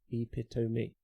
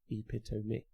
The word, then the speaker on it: epitome: 4 syllables. It's Greek and Tamnian, means to cut. 4 syllables. Epitome. Epitome.